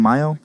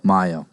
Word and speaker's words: Mayo: is is it brandon mayo if i've been saying it wrong the whole time mayo it's my myo i am so sorry